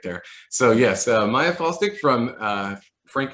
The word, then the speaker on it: Faulstich: so uh today we will be interviewing maya fawstik am i pronouncing that correctly yes okay uh and i i just like i had a weird mental breakdown right there so yes uh maya falstick from uh frank h harrison middle school and